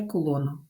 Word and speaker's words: кулон: так позначається електричний заряд одиниці вимірювання названі на честь французького фізика Шарля Кулона л читається як кулон і це запишіть один